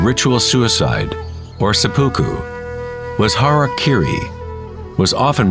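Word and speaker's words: hara-kiri: one form of ritual suicide or seppuku was harakiri was often mispronounced as Harry Caray it means to impale one's Hara thereby cutting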